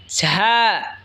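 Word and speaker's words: ز: এরপর হলো ঝা। ঝা জিহ্বার আগা সামনের নিচের দুই দাঁতের আগার দিকে লাগায় উচ্চারণ হবে ঝা।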